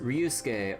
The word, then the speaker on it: Ryusuke: names like these, like, they don't like straight up pronounce the su in ske, right? Like, they like, at least the way that, like, it's normally said, like, you know, it's just Ryusuke, or, you know, like, Sasuke, or, you know, stuff like that.